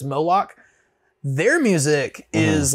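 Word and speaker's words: Moloq: they're back and forth they're called molok m-o-l-o-q nice which I think is the name of a monster in like a Norse mythology or something I think someone explained because I thought they were called malloc but then when you hear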